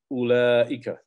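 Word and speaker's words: أولئك: dhalika, and tilka is ulaika. Ulaika. And the wow is not pronounced. You just put a sukoon over the wow that comes after the aleph.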